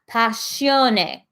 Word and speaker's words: Passione: Passion is pronounced ne. Oh, sorry, I said it wrong. Passione.